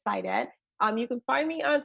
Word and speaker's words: Saidat: So my name is spelled like the word said and the word at together. So said at, but the pronunciation is Sidet.